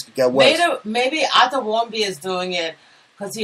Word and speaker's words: Warmbier: And no, it's not nice to talk about Otto Warmbier. He just died, so yeah. Listen to me. Just because his name rhymes with beer and warm, it is warm beer.